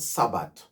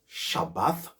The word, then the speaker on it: Shabbat: they say it right it's not Sabbat no Sabbat it's not and the later at the end of the word shabath it's a th not a t so you have three letters sha shabath and you have ha